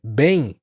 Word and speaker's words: bem: Bom, hum, todas essas palavras t uma vibração que acontece aqui, ó, perto do nariz. E muitos falantes em inglês acabam pronunciando esses sons eh de forma mais oral, sem essa nasalização.